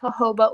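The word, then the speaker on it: jojoba: got this in Israel it's hoba oil it's spelled j OJ o b a um it's a great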